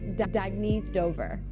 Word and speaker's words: Dagny Dover: Oh, it's pronounced Dagny Dover. Dagny means new dawn.